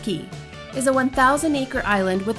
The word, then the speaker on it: Cay: Disney's private island Castaway Cay, yes, it's pronounced Key, is a 1,000-acre island with only 55 acres currently developed for use.